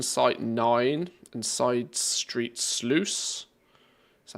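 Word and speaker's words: Sluice: nine and side street SLO is that how you pronounced that we'll go of slle it's like juice but with slush um the launch of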